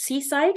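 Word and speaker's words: CSIDH: quite efficient um so that's uh this is pronounced Seaside in case anybody's wondering how to pronounce that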